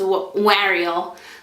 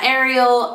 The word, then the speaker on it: Wariel: So it's pronounced the way I meant for it to be pronounced, was Wariel. Was like, you know, Wariel, but some people pronounce it like Ariel. I don't know. It really doesn't matter to me, but it's Wariel.